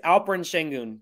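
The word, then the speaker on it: Alperen Şengün: words oh yeah wait did I say the name wrong it's uh I think it's alperin shengun that's I think that's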